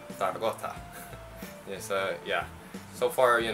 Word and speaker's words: Zaragoza: So the reason why in the French Basilan video I said Zaragoza, because I was pronouncing the Spanish pronunciation of the city of Zaragoza.